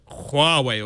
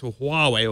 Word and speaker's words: Huawei: were like yeah but this is how we say it for a western audience but Chinese people go huawe or Huawei or even I can't